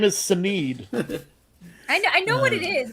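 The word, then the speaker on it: Sinéad: I said Sinhead O'Connor, and then I immediately knew that's not how you said it. Oh, God. I know that's not how you pronounce it. It's Sinead. I know it's Sinead.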